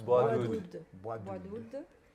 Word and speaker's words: Bois d'oud: See, I've been saying Bois de Oud, but no, but it's Bois Bois d'oud.